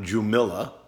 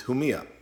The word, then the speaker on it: Jumilla: will southeast in Spain called home eeeh not Jumilla its who Mia this is del